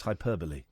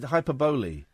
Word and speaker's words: hyperbole: By the way, the pronunciation of the word is hyperbole. That annoyed me tonight. The John Ronson thing was great. And then someone asked a question. They said hyperboly.